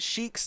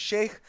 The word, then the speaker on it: Sheik: other problem is that sheik's name is sheikh and not sheikh many people make that mispronunciation they try to pronounce it as sheikh but she is in fact sheik from legend of zelda and not an islamic holy man all right are